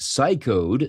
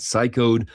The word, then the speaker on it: Cycode: Researchers at Cycode, C-Y-C-O-D-E, have disclosed a chain of flaws in